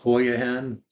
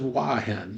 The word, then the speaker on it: Hua Hin: a special note inside our video we will mispronounce uh the name of the hotel to hoen uh we Ang uh anglicized it a little